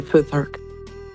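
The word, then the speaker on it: Futhark: is pronounced the way it's written. Elder Foothark.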